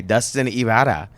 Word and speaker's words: Dustin Ybarra: Dustin Ybarra. Nice. I learned how to pronounce it.